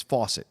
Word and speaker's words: Fawcett: the record my name my surname is pronounced the same as faucet okay yet no well